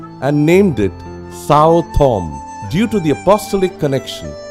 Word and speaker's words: Santhome: the Santhome area, and it should be correctly pronounced Santhome.